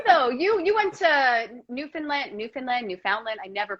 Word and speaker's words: Newfoundland: you you went to newfoundland newfoundland newfoundland i never pronounced it correctly yeah neither do i think i think they pronounce a new found land but i always say newfoundland yeah that's how they